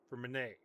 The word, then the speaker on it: Freminet: I want to keep saying Freminet. Freminet. There's no T sound.